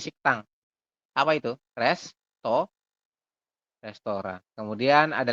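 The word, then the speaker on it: 식당: Tulisannya sikdang, dibacanya siktang.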